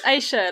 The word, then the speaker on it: Aisha: yeah, it's Aisha, like A and Shah, Aisha. rather than I.